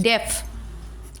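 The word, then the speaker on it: deaf: Then डेफ, DE F, ए pronunciation नहीं हो रहा है, ठीक है।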